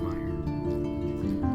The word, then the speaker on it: Mayer: it's gonna be uh it's an e but it's pronounced Meyer I typically remember a